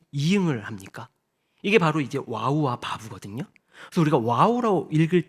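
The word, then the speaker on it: וו: 비읍 바라고 하는데 보면 와우는 이이고 바브는 읍이아요 이게 뭐냐면요 어 우라고 읽기도 하고 브라고 읽기도 합니다 여러분 우리 성경 인물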